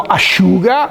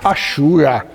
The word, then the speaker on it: asciuga: Quando diciamo asciuga, asciuga. L'accento cade sul sciù. Asciuga in italiano.